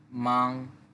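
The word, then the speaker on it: 吗: মাং মানে ব্যস্ত। দ্বিতীয় শব্দটি হচ্ছে মা। এটা আমরা আগেও পড়েছি। এটা দ্বারা কোশ্চেন বুঝায় বা কি অর্থ প্রকাশ করে। মা নিউট্রালটন। নরমাল বলব। পরের শব্দ পাপা।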